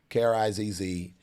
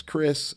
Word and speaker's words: Krizz: We learn Z's make the Zzz, but mine is Krizz. Like there's a producer named Swiss Beats, and it's S-W-I-Z-Z, but it's pronounced Swiss. That's me too. My name is pronounced Krizz, just in case, because